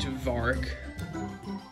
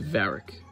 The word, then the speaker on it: Varik: right took a seat to vark my name's pronounced varric yeah whatever anyways you